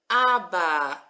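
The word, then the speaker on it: אבא: We've got our silent Aleph that's just taking on the sound.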